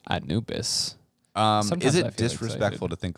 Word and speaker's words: Anubis: Is that how you pronounce that? Anubis? That's right, Anubis.